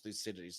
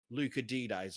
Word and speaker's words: Thucydides: Because I learnt about him and how to say his name is Thucydides, not Lucidides or whatever it is.